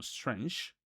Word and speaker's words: strange: Palabras de una sílaba como nice y como strange que terminan con E, recordando el tema o la regla que les dije que toda palabra en el inglés que termine con E, la E va a ser muda. Entonces, a pesar de que